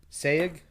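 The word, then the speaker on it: Sayeg: it say it again spell it s-a-y-e sag yeah yeah that's probably right yeah that's it that's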